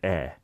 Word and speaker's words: 의: So basically, whenever it's possession and you see this 의, just pronounce it 에, and you can't go wrong.